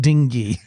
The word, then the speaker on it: dinghy: Sorry, it's pronounced dingy.